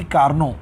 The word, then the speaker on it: Carnot: एक French engineer ने सादी कार्नो टी इसमें साइलेंट है 1824 में तो आप